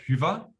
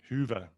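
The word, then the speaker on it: Hyvä: But it comes easy to Germans because we have the Ü, the umlauts, Ü, Ä, Ö. So Hyva, Hyva. Hyva. Hyva. Okay. Hyva. That's Hyva.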